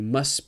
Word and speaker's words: must: you must be Indian when we speak in it with must actually quite often that ha goes away so it's not you must be Indian but it's like you must be Indian you must be Indian so watch out for the pronunciation if you want to speak naturally try to drop the top you must be Indian